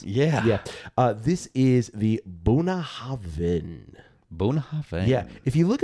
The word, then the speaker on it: Bunnahabhain: If you look at the bottle here in America, it looks like it's Bunnahabhain. But it's Bunnahabhain. You got to have a V in there. That's the BH, the V. Bunnahabhain.